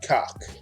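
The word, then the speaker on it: Cawk: see he's named Tony Cock. And that's Cock with C-A-W-K. I wasn't saying a cuss word. I wasn't cussing. That was a cuss word that slipped out. That's exactly what's pronounced.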